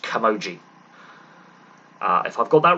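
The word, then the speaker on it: camogie: right splitting hurling and I believe it's pronounced kamoji uh if I've got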